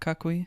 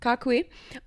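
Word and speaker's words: Ka-kui: Kakui? Is that how you pronounce it? Kakui. Kakui.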